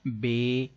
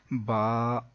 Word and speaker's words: ب: بتا رہے ہیں کہ حروف مفردات کو تجوید و قرات کے مطابق عربی لہجے میں ادا کریں، اردو تلفظ سے پرہیز کریں یعنی کہ بے، تے، سے، ہے، خے، توئے، زوئے وغیرہ ہرگز نہ پڑھیں بلکہ با، تا، سا، حا، خو، تو، ظو پڑھیں.